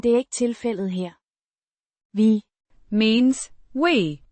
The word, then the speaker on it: vi: Vi kan tænke på firkantede dele, men det er ikke tilfældet her. Vi means we, pronounced vi, similar to the v in very, but slightly shorter.